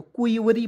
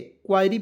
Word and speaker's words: query: ठीक है, उसके बाद देखिए यहाँ पे QUERY, तो क्यूवरी पढ़ा जाता है, क्यूवरी। ठीक है, क्वायरी भी बहुत लोग पढ़ लेता है, क्यूवरी पढ़ा जाता है। जब आप गूगल कीजिएगा तो वहाँ पे आपको बताएगा क्यूवरी।